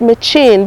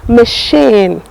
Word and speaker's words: machine: And I told you some people call it machine, but in this part of the world where we are now, it is known as what? Machine. It is pronounced machine.